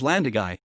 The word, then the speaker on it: Llandygái: spelt also as landai the correct welch spelling is landagai the accent signifying that the last syllable is stressed as opposed to the last but one the usual pattern all forms are in